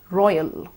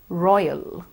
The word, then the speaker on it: royal: boys and royal now in the word royal we use the oil and then follow it with a short schwa sound as well Roy a royal royal we have practiced quite